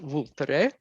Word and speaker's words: Vulture: when you write it in English but it's pronounced vter um vter was is an extinct volcano so